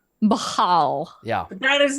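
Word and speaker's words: Bhaal: So Whoa, it's Bane according was- according to the book, it's pronounced Bahal. Baal.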